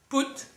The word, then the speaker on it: put: 7 7 placer mettre fixer régler tout put sauf que ça s'écrit mais ça se dit puttre poser pout ou encore placer poute pout sauf que ça s'écrit put pout po mettre poser placer.